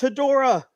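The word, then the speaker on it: Hedorah: so, It's pronounced Hedora.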